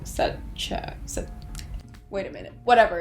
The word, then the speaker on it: Sacheu: It's pronounced SACHEU, like Sarah and Chung, so SACHEU.